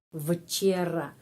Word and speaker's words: вчера: Jadi včera. Tetapi sebelum mengucapkan včera, kita harus ingat huruf V sebelum huruf konsonan yang tidak ada suara, yang voiceless, huruf V pengucapannya V. Jadi V. Bukan včera tetapi V. Včera.